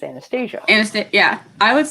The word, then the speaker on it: Anastasia: if we're doing Russian pronunciation, because it's a Russian name, it's Anastasia. Anastasia. Right. But if it's American pronunciation, it's Anastasia.